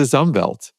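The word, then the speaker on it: Umwelt: There's this German word um which is spelled with a W but it's pronounced with a V which describes the environmental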